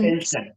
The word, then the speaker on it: tension: Tension. So Tension. it's not sir, it is sh.